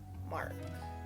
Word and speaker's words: marc: to pronounce it sure it's mark m-a-r-c mark mark mark really simple just wanted